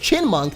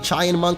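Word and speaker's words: Chinchou: I also learned that apparently this thing is pronounced chin monk there was a little girl in the town that says or tells you how to pronounced chin monk I kept saying Chen monk I think but now we know so anyway um this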